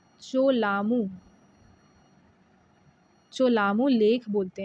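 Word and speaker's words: Cholamu: ये आपका, सॉरी, कालमू नहीं बोलते हैं, इन्होंने गलत लिखा है, स्पेलिंग गलत लिखी है बच्चे। इसको हम चोलामू लेक बोलते हैं, ठीक है। क्या बोलते हैं? चोलामू, चोलामू लेक बोलते हैं, ठीक है।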